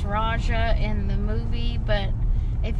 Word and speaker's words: Raksha: sounds like it's pronounced raja in the movie but if you look at this spelling it's r-a-k-s-h-a so i don't know if you actually say the k or not so we don't know